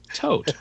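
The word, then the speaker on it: Toht: should be spelled because it's based on the german word tote which means death Oh oh my gosh we just got scooped it's pronounced tote no I don't know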